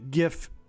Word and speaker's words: GIF: la liga mayor II, llámalo gif, no gif GIF es aj GIF es un gif con una G como regalo, cómo se escribe regalo, pero sin la T, así que es gif, pero puedes llamarlo Jeff, no hay una forma correcta o incorrecta de decirlo.